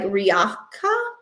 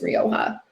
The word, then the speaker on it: Rioja: Um all right, have I ever heard Rioja pronounced like Riacha? Riacha? No. No. I have not heard it pronounced like that. I've only heard it pronounced as Rioja.